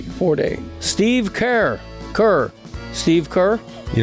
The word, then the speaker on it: Ford: Is it Ford or 40? Ford.